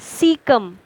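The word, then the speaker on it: caecum: Present है सीकम में, this you can pronunciate as सीकम।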